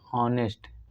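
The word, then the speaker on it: honest: ऑनेस्ट। ऑनेस्ट देखिए यहाँ एच क्या है? एच कॉन्सोनेंट है, लेकिन साउंड वावेल की आ रही है, इसलिए क्या हमारा सही हो जाएगा इसका? यहाँ ये साइलेंट है, ऑनेस्ट ऑफ, तो हमारा एन सही हो जाएगा।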